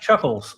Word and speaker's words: Chuck Laz: That's pronounced Chuckles, sir.